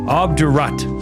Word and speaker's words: obdurate: Obdurate. Looks like obdurate, but it's pronounced obdurate.